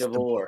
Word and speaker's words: DeBoer: So then there to DeBoer. Is that how you say it? I can't get his name right. Yeah, It's DeVore. DeBoer.